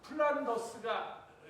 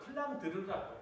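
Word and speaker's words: Flandre: 여러분들 이 지방이 플란더스가 영어식 발음이고요. 플랑드르라고 해요.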